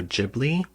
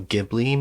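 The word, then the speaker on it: Ghibli: me how to pronounce this um correctly I pronounce it studio jibli with a soft H um but Studio gibli maybe if that's how you want to pronounce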